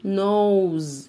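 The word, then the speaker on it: nose: نو نوز ايه ده ده حرف الاس هنا نطقناه ايوه وبرضو هعمل لك فيديو هقول لك امتى بننطقه اس زي اسمه وامتى بننطقوا زد هنا هنتقهواز والاي في اخر اي كلمه ما بننطقهاش ما عدا حبه هقول لك عليهم بعدين كده خدنا اعضاء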